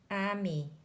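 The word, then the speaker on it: ami: words in this book Emmy means friend in French you say it like this Amy Bell means beautiful in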